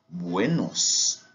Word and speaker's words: Buenos: Comme je vous avais dit tout à l'heure, U se prononce comme OU. Buenos, ok?